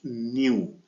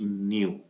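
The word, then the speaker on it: ν: this letter is pronounced new it is pronounced as new this letter is pronounced as new in U and this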